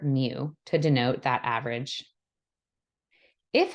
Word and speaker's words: mu: top so this first symbol is called we pronounce mu and the second symbol is called X bar